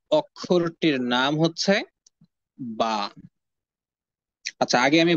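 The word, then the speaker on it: ب: কারণ হচ্ছে বা অক্ষরটি উচ্চারিত হয় দুই ঠোঁট থেকে। অর্থাৎ উপরের ঠোঁটকে নিচের ঠোঁটের সঙ্গে যুক্ত করে এবং নিচের ঠোঁটকে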